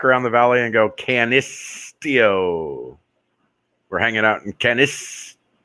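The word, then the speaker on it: Canisteo: Can is like a long I S? Canistio. Canistio.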